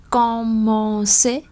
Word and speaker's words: commencer: Các bạn xem từ trên xuống dưới thì chúng ta sẽ có câu 1 này, commencer, hai chữ cờ nhưng một chữ đọc là cờ, một chữ đọc là sở.